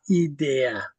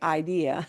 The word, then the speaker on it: idea: Yeah, this word idea, and your English brain really wants to say idea because it's Mhm. spelled the same way, isn't it? And it means the same thing, but we have to pronounce it very differently.